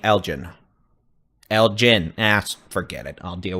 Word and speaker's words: Elgin: Heavy rain, nickel to quarter size hail, hard G on the Elgin.